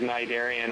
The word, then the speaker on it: Cnidaria: So when the ship stops, Sirius Pronounce it starts. Cnidaria.